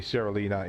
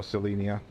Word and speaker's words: Selenea: pronounce it cuz admittedly Serelina is a lot easier or selenia. I don't think there's an R in there.